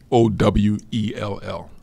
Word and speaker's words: Sowell: S-O-E. How you say it? Sowell.